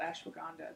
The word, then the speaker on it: ashwagandha: But of course, there is a herb called ashwagandha that's been really helpful with.